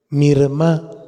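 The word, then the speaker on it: מרמה: raíz hebrea de falso es mirma mirma acento en la a y quiere decir sentido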